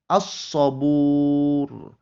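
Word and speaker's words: الصَّبُور: Ada alif lam bertemu dengan huruf shad, maka cara membacanya as-sabur. As-sabur. Alif lamnya dianggap tidak ada, maka tidak dibaca.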